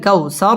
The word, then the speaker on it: কাউসার: পড়তে হয় ইন্না আ'তাইনাকাল কাউ ওয়াও ঠোঁট গোল করে উচ্চারণ করতে হবে কাউ জবরের বাম পাশে জাজম ওয়ালা ওয়াও লিনের হরফ তাড়াতাড়ি পড়তে হবে কাল কাউসার র পুর হবে এবং ওয়াকফ করতে হবে